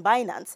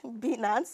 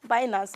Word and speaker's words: Binance: him to read now he can't even pronounce the name properly well he says bance or something but binance maybe just like finance and finance both are correct then Teddy says the